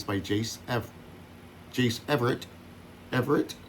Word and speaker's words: Everett: Everett, three syllables. Everett. Everett.